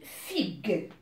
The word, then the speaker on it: figue: Si je l'écris comme ça, hein, c'est fige. Alors, c'est une erreur. Qu'est-ce que je vais faire? Je vais ajouter le U entre G et E. Et ça va devenir fig avec le U entre G et E. Alors là, c'est juste. J'ai le son G.